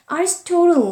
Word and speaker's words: Aristotle: Aristotle 이렇게 얘기했습니다. Aristotle이라고 있습니다. Wrote that happiness is a condition. 아리스토텔레스죠. 우리는 아리스토텔레스라고 부르지만 영어 발음 찾아보니까 아리스토틀이라고 합니다.